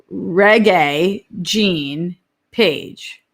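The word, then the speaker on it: Regé-Jean Page: okay wait melissa says reggae gene page but mostly you just told me of the genre oh it's pronounced like the genre like reggae music oh melissa babe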